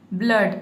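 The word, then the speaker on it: blood: देख सकते हैं कि यहाँ पे डबल ओ आया है, लेकिन यहाँ पे डबल ओ को हम ऊ नहीं पढ़ते हैं। इसमें डबल ओ का जो साउंड है वो अ का साउंड आता है, अ का।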